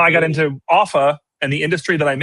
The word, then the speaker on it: Offa: screen just to show off a little bit if you don't mind. But Offa, and thank you for pronouncing it correctly. Sometimes people say Ufa or Alpha or something, something crazy.